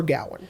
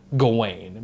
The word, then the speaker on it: Gawain: the actual pronunciation is gawain because it's w-a-i-n just like my name being rain so i think it's